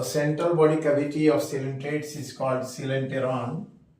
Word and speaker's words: Coelenterata: Phylum सिलेंटेरेटा। In fact लिखते हैं हम क्वालेंटेरेटा, ओ साइलेंट है, पढ़ते हैं सिलेंटेरेटा।